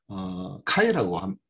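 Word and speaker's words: χ: 네, 그리스어를 쓰고 뭐 알파, 베타, 뭐 감마, 뭐 이런 에타, 뭐 이런 것들을 쓰는데, 이 x는 영문으로 된 x는 그리스어로 카이라고 읽습니다.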